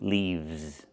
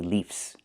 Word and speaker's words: leaves: One leaf and two leaves. I cannot say leaves. The word is leaves.